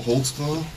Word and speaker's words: Holtzclaw: How do you say your name? Holtzclaw. Holtzclaw. What is that? It's German.